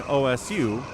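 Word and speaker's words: osu!: It pronounces it in Japanese, so the U is silent. So it's called OS.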